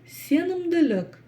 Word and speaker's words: сенімділік: Сенімділік, сенімділік. Кстати, буква Л, как вы поняли, так как она окружена мягкими буквами, а палочка с точкой считается в казахском языке мягкой буквой, то буква Л читается мягко.